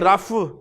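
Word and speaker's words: رفع: पे सुकून होता है, लेकिन उर्दू में चूंकि रफ़ कहना मुश्किल है तो फिर उस फ्लो को बरकरार रखने के लिए रफ़ा बोल दिया जाता है। असल प्रोनाउंसिएशन इसकी रफ़ है, रफ़।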